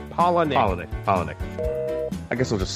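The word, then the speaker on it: Palahniuk: His last name is Polinick. Polinick.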